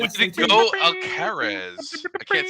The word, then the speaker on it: Alcaraz: go, Alcaraz. I can't say your name, but you beat the shit out of Joker, and that's what was great. Oh, Carlos Alcaraz? You don't say Alcatraz? Alcaraz. It's like Alcazar?